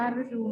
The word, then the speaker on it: ฤดู: ริษยา นะ คะ อ่ะ ฤดู นะ คะ อ่าน ว่า ฤดู หมาย ถึง ช่วง ฤดูกาล